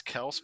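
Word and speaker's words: Kelce: first this year actually did you know it's kels by the way apparently he came at like he came out and said that it's actually pronounced kels but everyone just says kelsey so he's just going with it anyways side topic good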